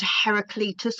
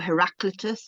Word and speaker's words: Heraclitus: Um, and one of my favorite philosophers is a is a man called Heracletus or Heraclitus depending on how you say his name.